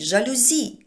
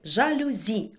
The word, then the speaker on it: жалюзі: Чому це так пояснює Справа в тому що це слово ми запозичили із французької мови А у французькій мові переважно наголос на останньому складі в слові порівняємо всі букле Бонжур мерсі це всі слова які я знаю із французької мови Але зрозуміло що там наголос на останньому складі висновок якщо ми запозичимо слово із французької мови То відповідно і запозичуємо їхній наголос тому правильно казати жалюзі